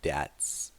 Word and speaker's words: debt: So even after all his hard work, he still has to pay off his debts. Debt. We don't pronounce the B there.